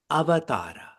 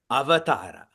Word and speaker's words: avatara: The next significant thought that is shared is about avatara. Say it back to me. Avatara. Now say it wrongly. Avatar. Now say it rightly. Avatara.